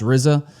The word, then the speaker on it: RZA: I believe it's pronounced RZA, is how you pronounce this person's name, this guy's name.